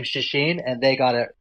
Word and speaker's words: Czeschin: Every which way, but I always tell people the easiest way to remember it is it rhymes with machine. So machine, Czeschin.